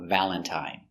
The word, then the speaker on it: Valentine: Valentine uses the original I sound. I, long I, Valentine.